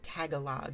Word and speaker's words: Tagalog: I think it's Tagalog or is it Tagalo? I think it might be Tagalo. The G might be silent at the end. Um, it's tagalog until someone pronounced Yeah, I I do think it's tealo. Tagalo. I think that G might be silent at the end. Yeah, Tagalo.